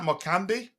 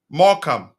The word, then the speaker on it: Morecambe: Morecambe. Yes. The E is silent.